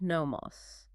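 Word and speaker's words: νόμος: And the second word, which we absolutely must contrast it with to understand the legal landscape, is amos, pronounced nomos.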